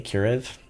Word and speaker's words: Kurev: I know it's with a K. Kurev. There we go. I had to remind myself. I had to say your name wrong a couple times to remind myself. But Kurev is here.